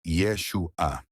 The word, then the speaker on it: Yeshua: Seu nome era pronunciado e escrito da forma, com som aproximado de Yeshua.